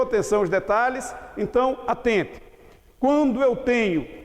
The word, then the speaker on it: quando: Quando. Esse QU de quando forma um dígrafo? Não. Por que não forma? Porque o U é pronunciado.